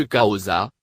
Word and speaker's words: Xhosa: Le nom même de la langue se prononce Xhosa, en claquant l'arrière de la langue.